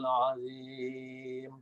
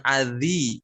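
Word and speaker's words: عظيم: Wa huwal aliyyul azim. Azim, jangan adzi. Adzi itu huruf dzal. Kalau ini huruf lo, azi, li.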